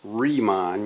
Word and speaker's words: Riemann: to talk about riemann so it's riemann you you it's a german name so you pronounce the second uh vowel there uh riemann sums okay